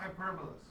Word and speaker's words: hyperbola: Hyperbolas. That's I actually think that way when I spell it. Okay. Hyperbola is how it's actually pronounced, but I think of it as hyperbola, then I spell it properly.